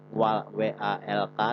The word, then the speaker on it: walk: Tulisannya walak, W-A-L-K, tapi bacanya walk, pakai O ya, walk.